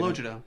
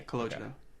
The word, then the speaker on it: Calogero: Is Calogero, is that how you say it? Calogero, yeah. That's how you would say it if you're Italian. Yeah, Calogero.